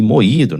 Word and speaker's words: moído: A palavra aqui moído, né, separa-se em moío, né? Observe aqui que a vogal fica sozinha na sílaba, né? E recebe a tonicidade aí, né? Maior força da pronúncia aí.